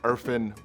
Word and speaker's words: Irfan: good people people people so my name actually pronounced right it's earthen and originally i was actually born in